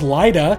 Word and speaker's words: Lydia: Moulder has his runin with the lady ghost who he calls Laida, even though it's spelled Lydia, which brings me back to the Beetlejuice connection.